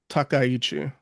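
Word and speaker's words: Takaichi: How to pronounce the name? Oh, it is uh Sai Takayichi.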